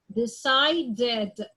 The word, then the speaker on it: decided: I'm gonna say it like, needed, ed, ended, decided. So in these 2 cases, I say the ed or the D like ed.